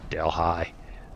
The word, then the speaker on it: Delhi: Delhi. Back in Louisiana. There's a little town in Louisiana. And that's the way it's pronounced.